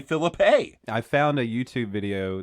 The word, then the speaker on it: Phillippe: for this episode says Phillippe. Actually, like pee, like you're going to go pee. You're going to Ryan Phillippe.